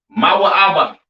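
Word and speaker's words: מואב: have Moab all right Moab pronounced ma ABA right the children of Moab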